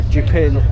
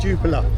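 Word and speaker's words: Jupiler: Jupil. Jupa. Oh, I was pronouncing it in sort of French, but No, if you're going to say in Belgium is Jupah.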